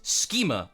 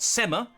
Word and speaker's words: Schema: It's pronounced Schema, Oliver. Schema, not Sema, Schema.